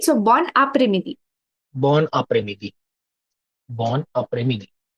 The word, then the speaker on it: bon après-midi: No, in this case, you will pronounce the N. I'll explain अच्छा. why you will do that. In this case, you will pronounce the N. हाँ. So you'll say bon après-midi.